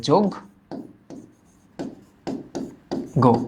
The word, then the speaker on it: যজ্ঞ: দেখতো যজ্ঞ মনে রেখো আমরা জানি যে এটার আগে যদি একটা অধনি থাকে সে অ এর উচ্চারণ ও এর মত হয় এবং এটাও তোমার মাথায় রাখতে হবে যে এটা নেগেটিভ যাতে না হয় তো যোগ্য মানে তো পূজা করা এটা নেগেটিভ কিছু না তহলে এটা কি হবে এটার উচ্চারণ ওকার যুক্ত হবে যোগ গো এটা এই শব্দটা